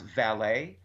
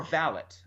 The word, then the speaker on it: valet: word like ba le T which we could pronounce valet or Vallot um and and and if you ever watch to Downton Abbey they they said valid and sometimes I feel like in Britain in